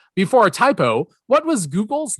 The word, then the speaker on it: Googol: As I said, it's Google, but it's spelled Googol.